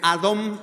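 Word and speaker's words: אדום: En hebreo el color rojo se pronuncia Adom, pero en nuestro español dice Edom.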